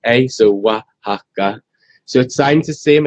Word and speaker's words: Wahaca: is great right and the restaurant is called Waka yeah and that's a that's a Mexican state but the Mexican state is O AXA uh but yours is spelled how so yeah for Less confusion because in London something begin with it would just be so you wouldn't go waka so it would be really confusing so we spelled it